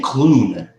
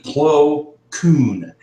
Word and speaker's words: Plo Koon: so that Plo Koon, I keep saying Kloon, like George Clooney. It's actually Plo Koon, Koon.